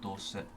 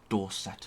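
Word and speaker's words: Dorsett: it across and jeral Dorset not door set as the US so unless it is doorset but add an extra vows um not vows syllables um yeah and then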